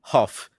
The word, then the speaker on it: Hough: It says it's spelled how. All right, but Huff say fine. Julian Huff.